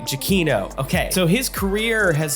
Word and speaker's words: Giacchino: as uh how do you say his name kiachino jaquino thank you aquino oh my goodness okay you would think i would learn his name right giakino okay so his career has continued since his